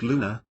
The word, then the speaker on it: Lone: workshop in Dallas where lone pronounced Luna had been in attendance